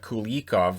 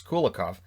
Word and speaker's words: Kulikov: then denied kulikov uh kulakov i almost said kulikov which is how jack edwards was pronouncing it earlier in the year when they were against new jersey i was thinking who's cool yikov so it's kulakov um suzuki then at